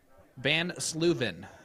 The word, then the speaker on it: Van Sluven: Van Sluven is how you pronounce her last name.